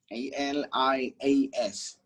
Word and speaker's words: alias: l i a s so it is not alias it's alias goes like alias it is alias not alias so say it with me alias if you're seated wherever you are you're gonna say this word with me alias like aliens it is alias ladies